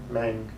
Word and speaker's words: Meng: Do you pronounce it Meng or Ming? Meng. Over here, Meng copyright, so basically based in Hong Kong, made in China.